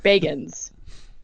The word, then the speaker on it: Bagans: Zachary Alexander Baggins. I want to go to the wiki and see how he pronounces it. Bagans.